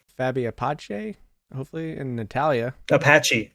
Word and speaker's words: Apache: Apache, Apache. like Native American Apache.